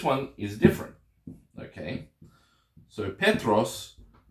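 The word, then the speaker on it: Πέτρος: is different okay so Petros now the accent falls on the second to last syllable so philipos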